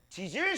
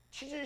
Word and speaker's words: 지질: 발음 조심하세요. 지질 시대입니다. 치질 시대 아니에요.